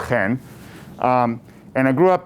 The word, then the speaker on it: Chen: i'm actually israeli uh last name is pronounced hen um and i grew